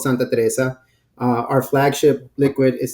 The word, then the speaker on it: Santa Teresa: itself as well sure so it's it's you pronounce it Santa Teresa 1796 is our Flagship the company is called Santa Teresa uh our Flagship liquid is Santa Teresa 1796